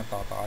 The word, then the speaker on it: Tartary: थी, तातारी सल्तनत या तातार कहलाती थी। तो उस रेफरेंस से जो है दरअसल पोइट ने इसको एक टाइटल दिया है, लिहाजा हम इसको तातारी ही पढ़ेंगे, इंग्लिश वाला प्रोनाउंसिएशन यूज़ नहीं करेंगे।